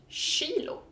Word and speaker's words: kilo: sound it's kilo and it's spelled the same as in English kilo but in Swedish we pronounce it Shilo so Ki or just